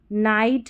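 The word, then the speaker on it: night: तो देखिए लाइट, नाइट, हाई, राइट और ब्राइट। यहां पर आई को आई पढ़ा है। जी एच साइलेंट है।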